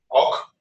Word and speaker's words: awk: How to pronounce that? Awk.